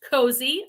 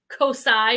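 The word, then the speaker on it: Kosei: why cozy thread started it's k o s e i pronounced cozy i learned that by saying cosi or some japanese thing and people are like kwembi kwembi it's cozy i'm like okay so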